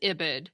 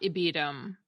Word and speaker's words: ibid: again and people usually pronounce that as ibid not ibedum and sometimes we spell